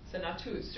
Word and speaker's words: senatus: Senatus, right? With a long U.